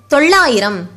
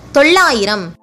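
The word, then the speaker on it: தொள்ளாயிரம்: Tho, a short sound letter. Il, a consonant. La, a long sound letter. Both the il and la belongs to the group of big la letters. While pronouncing it, a tip of the tongue touches the middle roof of your mouth. Then, e, a short sound letter. Ra, a short sound letter. Im, a consonant. Together, tollayiram.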